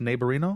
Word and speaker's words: Naborino: I got the pronunciation of that right it's pronounced neighborino absolutely you got it where did you get